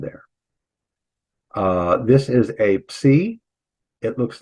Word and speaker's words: psi: This is a psi. It looks like Poseidon's trident. In fact, the word Poseidon would begin with a psi, and both ways there, and it's pronounced ps.